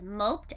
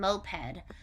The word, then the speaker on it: moped: be hard to pronounce so it means they're written the same but it doesn't mean that they're pronounced the same okay so we're working